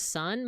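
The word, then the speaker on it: 三: right as ni uh three is always read as son but I've also read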